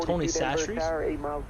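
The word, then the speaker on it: Tony Chachere's: Typically in Louisiana, we use what's called Tony Sastry's. The word Sastry does not look, like the way it's spelled doesn't look how you would think it would look.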